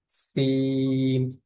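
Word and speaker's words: س: সিনের উচ্চারণ যখন আমরা করব, মুখ থেকে এক রকমের বাতাস বের হবে, সিন এরকম, সিন।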